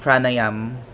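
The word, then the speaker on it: pranayama: the letter n and so that's asan and pranayam so always with a silent vowel at the end so yamas what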